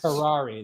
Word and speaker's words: Curare: Kurari. Kurari. Kari. Kari. Yes. Kari. There it is. Because you got the little accent over the e at the end. Kari. Touch of kurari.